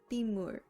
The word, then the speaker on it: 빗물: For example, 빗물, meaning rainwater, 빗물 changes to 빗물 due to nasal assimilation. And now, since the final consonant is ni은 and is followed by a mium, you can pronounce this word naturally as 빗물.